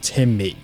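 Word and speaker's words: Tim Mee: These are two AC130 gunships I got from a company called Timme. That's two separate words, Tim and then me, spelled with two E's.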